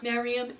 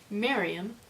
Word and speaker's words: Miriam: s on my shirt her name is Miriam Miriam mary-4 you do not mispronounce it I will hurt someone